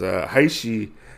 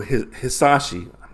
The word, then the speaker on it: Hisashi: I have to say, in this scenario, because Haishi is very much wrong in this situation. Very, very wrong, I feel like. So Hisashi, I don't know why I keep getting his name wrong.